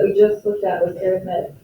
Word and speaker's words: arithmetic: It's an arithmetic, even though it looks like arithmetic, it's an arithmetic sequence.